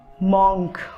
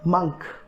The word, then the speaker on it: monk: इसको हम लोग बहुत से लोग मॉन्क बोलते हैं. मॉन्क ये सही नहीं है. करेक्ट प्रोनाउंसिएशन है मंक. करेक्ट प्रोनाउंसिएशन क्या आपका? मंक, नॉट मॉन्क.